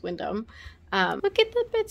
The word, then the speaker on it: Windham: we're at the Windham it's spelled Windham but I'm assuming it's Windom um look at the